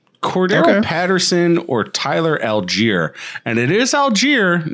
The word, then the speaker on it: Allgeier: Patterson or Tyler Allgeier. And it is Allgeier, not Allgeier. It looks like Allgeier. I'm probably going to call him Allgeier. I don't care that it's pronounced Allgeier.